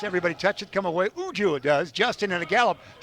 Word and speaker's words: Uju: That's spelled U-J-U, Uju.